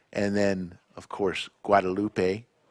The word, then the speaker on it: Guadalupe: manack instead of Manaka and then of course Guadalupe guadaloop mayor yeah could also call it the drag